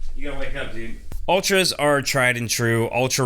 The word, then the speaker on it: Altra: peak hiking shoe or altras in general and i just got to say i'm sorry it's ultra just because it's an a doesn't mean it's altra it's pronounced ultra i could be wrong